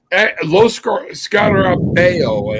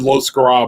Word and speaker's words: Lo Scarabeo: Lo Scarabeo, I think is actually how you say it. But yeah, my wife said Lo Scarabo.